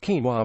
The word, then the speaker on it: quinoa: Quinoa, pronounced quinoa, is one of nature's superfoods and a busy cook stream.